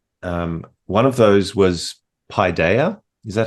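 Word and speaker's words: paideia: better uh and um one of those was Pi Daya is that how you pronounce it how would you pronounce it yeah paidea um that um the Pioneer was word in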